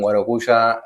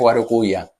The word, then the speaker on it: Guarocuya: Sí, que en realidad es Guarocuya. Yo digo Guarocuya porque, bueno, en Argentina pronunciamos así.